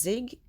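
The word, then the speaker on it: Yig: Hoping, and Deception Bites is doing a phenomenal job, and I think it's pronounced Zig, it's Y-I-G, is also just fantastic, doing a great job.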